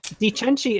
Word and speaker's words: Di Cenci: Well, Frood added the D, but Cenci C's like in CI and CE in Italian, as I've come to understand, are pronounced with a CH.